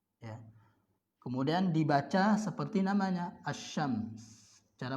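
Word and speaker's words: الشمس: Kemudian dibaca seperti namanya asy-syams. Cara membacanya seperti ini. Ya. Berarti tadi ditasydid. Ya. Lamnya tidak dibaca, bukan al-syam, salah. Al-syam salah.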